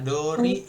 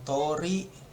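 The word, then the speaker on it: 通り: Bisa dori, bisa tori. Dori. Nah, dia bisa baca dori, bisa baca tori.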